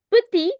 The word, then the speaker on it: petit: I'm not pronouncing the last consonants here, the dipsticks rule. If you've attended previous sessions that I've had, I've mentioned dipsticks rule for people attending for the first time. Dipsticks rule means whenever you find these alphabets or letters at the end of the word, you do not pronounce them.